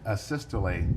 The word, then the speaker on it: asystole: to the jury uh a systole i think is called um am i pronouncing that right by the way asystole yeah yes would you spell that